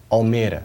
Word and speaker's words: Almere: town, so called well, Almere. That's how you pronounce it in Dutch, and it's always been a great experience.